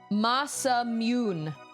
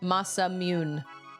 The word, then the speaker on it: Masamune: Masamune. That's how you pronounce it. Masamune. Oh, Masamune. Oh, this says it's a Japanese swordsmith. It's pronounced Masamune.